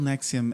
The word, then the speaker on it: NXIVM: I can't even pronounce it. NXIVM. Yes, it's called NXIVM.